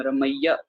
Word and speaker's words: रमैये: ठीक है, ये के ऊपर लावा लगी हुई है ना, तो इस वजह से यहाँ पर उच्चारणता की जाएगी रमैये। ठीक है, अगर लावा नहीं होती तो हम रमैया उच्चारण करते।